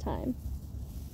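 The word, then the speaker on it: thyme: th th it has it has an H but the H is silent and it's pronounced time I just call it time I am curious where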